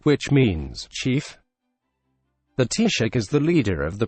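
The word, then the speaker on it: Taoiseach: the head of the government is the teacher pronounced T shut which means chief the tea shake is the leader of the political party with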